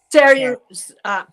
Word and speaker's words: Cernunnos: Cernunnos? The one with the deer. Cernunnos.